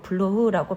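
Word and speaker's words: Bloch: 그러자 태어나면서부터 블로크 양이었던 젊은 여자는 게르망트 공작이 했을 때처럼 독일식으로 블로흐라고 발음하며 대답했다. 블로크의 C 또는 K, 즉 크로 발음하지 않고 독일식의 흐로 발음했다.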